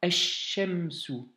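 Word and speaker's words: الشمس: Et par conséquent, le L de la lettre lem de l'article alif lam ne se prononce plus.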